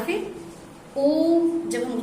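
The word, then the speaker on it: ओ३म्: जैसे हम ओम भी कहते हैं, तो आप देखे होंगे ओम, जब ओम में लिखा होता है तो बीच में आप हिंदी का 3 लिखा होता है। ओम, माँ में हलंत लगा होता है, तो हम उसका उच्चारण भी कहते हैं ओम, इस तरह से करते हैं।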